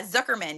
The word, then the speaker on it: Zukerman: Zuckerman.